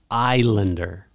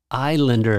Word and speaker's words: Islander: Islander. Islander is a strange way to pronounce that, but that's the way it's pronounced.